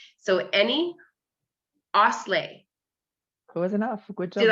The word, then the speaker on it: Oszlai: It's Eni Oszlai. Oszlai.